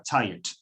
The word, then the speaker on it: tired: Normalmente esa vocal es una vocal débil que en la pronunciación habitual casi que desaparece.